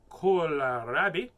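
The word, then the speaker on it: kohlrabi: let's do this a kalarabi pronounced cola rabbi scientific name is bracia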